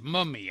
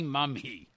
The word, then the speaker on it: Mumy: and Frank gave me the proper pronunciation of your name as mummy I hope I said it right yep Moo like a cow me like me yeah I was always calling you Billy Mumy yeah I've heard that